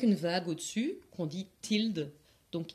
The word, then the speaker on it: tilde: La médiane, elle s'écrit X avec une vague au-dessus, qu'on dit tilde, donc X tilde.